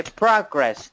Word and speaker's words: progress: Ok, trọng âm rơi vào âm đầu tiên pra và còn lại dấu nặng progress.